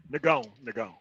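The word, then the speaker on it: Nagão: It's it goes for Nagon. Nagon. That's how it's pronounced in Brazilian Portuguese, and that means big, strong, black motherfucker.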